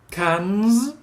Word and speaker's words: cans: Here we have cans with a Z, cranes All right. with a Z. This is all Z. Because everything that ends in the N sound, in the plural, it is pronounced Z.